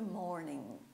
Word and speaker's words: morning: eu não moro em vocês perceberam que ele G eu não pronunciei curte morninho ele tá lá mas ele é só para escrita Ok não é para